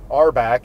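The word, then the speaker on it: RBAC: heard it out loud our back is how you pronounce the acronym for role-based Access Control um and uh it's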